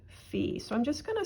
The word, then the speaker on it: fi: a sharp so we actually use a different syllable for that and it is called fee so i'm just going to circle that because